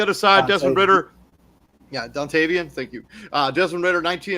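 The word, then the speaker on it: Dontayvion: Dante Vian Wicks, 1 touchdown for him. On the other side, Desmond Ridder. Yeah, Dontavian, thank you.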